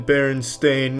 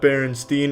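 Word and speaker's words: Berenstain: It's always been Baron Stain, not Baronstein. Everyone, every everyone, every they all want to pronounce it. But it's Stain. Ever since I was a kid, they call me. It's Stain, though.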